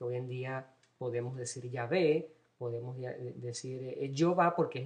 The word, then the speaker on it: Yahvé: Universidad Lateranense en Roma, la pronunciación más cercana a la antigua del tetragrama, de las 4 consonantes que componen el nombre de Dios sin vocales, era Yahvé. Se colocaba las vocales abiertas, la A y luego la E.